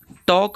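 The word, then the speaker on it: talk: बोला जाएगा सेमन होगा टॉक में एल साइलेंट होगा फोक में फॉल्क नहीं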